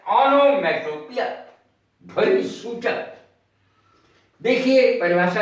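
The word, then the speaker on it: onomatopoeia: पिया, इसको पोइया नहीं बोलते, पोइया गलत है। ओनोमैटोपिया, ये इसका उच्चारण है।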